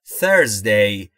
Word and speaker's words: Thursday: و در مورد تلفظ TH در Thursday باید دقت بکنید، زبون زیر یا پشت دندونهای بالا، سعی میکنید بگید سه سارا. Thursday. The fourth day is Thursday.